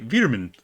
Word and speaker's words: Wereman: It's pronounced like Veer, so... So Wereman is actually Veerman.